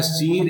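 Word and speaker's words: sere: देखो उसको शेयर बोलते हैं। क्या बोलते हैं? शीर बोलते हैं। प्रोनाउंसिएशन थोड़ा ध्यान रखना आप क्या? शीर इज़ दी एंटायर सीक्वेंस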